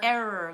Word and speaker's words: error: And error, like you made a mistake. Okay. Okay, so all of those words have a letter combination of R-R-O-R in them. The stress always goes on the first syllable.